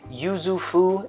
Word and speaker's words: Yuzu Fou: Yuzu Fu, and it rhymes and it kind of rolls off the tongue.